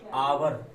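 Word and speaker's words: hour: कुछ शब्द एच से शुरू होते हैं परंतु उनमें एच का उच्चारण नहीं होता है। जैसे अभी मैंने बताया आवर, आवर में एच नहीं निकलेगी, स्वर निकलेगा, स्वर।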